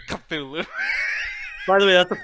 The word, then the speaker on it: Cthulhu: pronounced Hulu. Cthulhu.